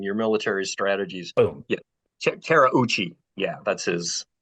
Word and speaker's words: Terauchi: Terauchi. Yeah, that's how you pronounce his name.